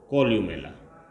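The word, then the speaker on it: columella: कॉल्यू, सी ओ एल यू एम E double L ए, कॉल्यूमेला पाई जाती है, जिसका उच्चारण करें तो कॉल्यूमेला पाई जाती है।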